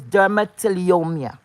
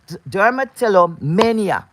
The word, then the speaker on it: dermatillomania: d-e-r -m-a -t-i-l-l -o-m-a-n-i-a I think the pronunciation is dermatillomia no Derma telly Telly dermatello Mania sorry dermatillomania right d-r-m-a-t-i-l-l-o-m-a-n-i-a okay